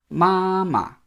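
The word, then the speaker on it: 妈妈: would say 妈妈 mama. Notice it's mama, not mama. Even though it's the same 2 characters, ma 2 times, it's mama. The second one becomes a neutral tone.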